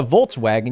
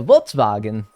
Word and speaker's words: Volkswagen: that you say that the way you said vinkle vagen what do you mean that's what you say you don't say a Vols vagen you don't say a vol wagon you say a Volkswagen right I don't know I'm